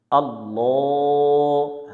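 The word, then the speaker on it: الله: এটিকে আল্লাহ শব্দ বলে। আল্লাহ শব্দের ডাইনে জবর হলে আল্লাহ শব্দের লামকে মোটা করে পড়তে হয়, জবরে আকার পড়া যাবে না।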